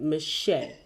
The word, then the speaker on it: Meche'tte: To the most amazing Shelley, I'm going to mess the last name, Meche'tte.